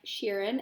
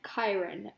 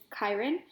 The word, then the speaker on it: Chiron: been pronouncing it like Sharon and then I looked it up and it turns out we pronounce it like Chiron okay so mr. Brunner is Chiron so he is explaining